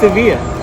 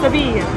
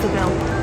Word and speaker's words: Sevilla: It's actually pronounced Sevilla. In Spanish? Yeah. Sevilla. Yeah. Sevilla. Yeah. আমাদের পিছনেই হচ্ছে কি ওয়েস্ট হ্যাম স্টেডিয়াম, তো ওখানে খেলা হচ্ছে, এই জন্য চিৎকার আসছে। In English we say Seville.